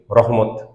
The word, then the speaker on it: রহমা: বিশেষভাবে আপনার পক্ষ থেকে রহমত রহমা আরবি শব্দ বাংলায় আমরা রহমত বলি ওই জন্যই বলছি রহমা বলে একটু অদ্ভুত শোনাবে কারণ বাংলাতে আমার রহমত শুনে শুনে অভ্যস্ত বা আরবি শব্দের উচ্চারণ রহমা ঠিক আছে ওটা আতি না